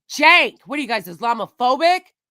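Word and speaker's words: Cenk: hard all of them all of them call him sank it's like it's Jank what are you guys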